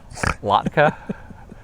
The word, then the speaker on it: Latka: How do Latka? I Like It a Latka. Latka, not like latte.